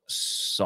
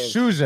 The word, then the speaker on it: Souza: Is he talking about Saw? That's my last name. No, Souza. Oh, okay. It's pronounced Souza, right?